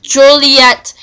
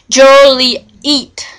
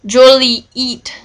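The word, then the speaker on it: Joliet: the pet peeve of hearing their Town's name mispronounced Juliet when it was when all local fols were PR pronounced it Jolie eat okay it may made mispronouncing Jolly eat Jolly eat a misdemeanor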